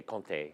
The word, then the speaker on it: Comté: And now I know a lot about Comté cheese. You say Comté, but in French you say Comté.